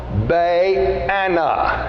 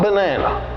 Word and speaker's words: Baana: One was Baana. That's the way I would pronounce his name in my self-pronouncing Bible. Not banana, okay? Baana. Baana was his name.